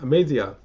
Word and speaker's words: Amaziah: I'll do a quick word pronunciation. Amaziah.